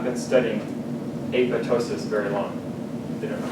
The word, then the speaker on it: apoptosis: of course and then in Greek the p is silent APO Tois P if you go out in the research world and someone calls it apoptosis a person has not been studying apotosis very long they don't